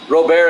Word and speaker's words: Robert: one of them were off a home run Robert is how you say it all right how's